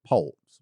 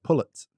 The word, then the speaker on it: poult: of them I mean they're poults but they all say they all say pullets. I'm like p-o-u-l-t where's the pullet?